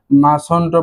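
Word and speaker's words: mustn't: এটার উচ্চারণটা হবে এই যে মাস, মাস টি বাদ যাবে এনটি, মাসন্ট, মাস অন্ট, মাস অন্ট, এভাবে আমরা উচ্চারণ করব।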